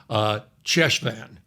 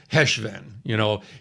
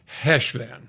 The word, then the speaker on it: Cheshvan: pronounce it Hanukkah, and you do that growl at the back of your throat. I'm going to call it Heshvan, okay?